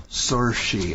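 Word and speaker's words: Saoirse: it up on Wiki cersi s a o i RS e it's gay and it means freedom in the Irish language sori I think anyway okay yeah Ronan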